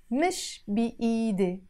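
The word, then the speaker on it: مش بإيدي: It's written ed, but we always pronounce the e in the end as e in Lebanese.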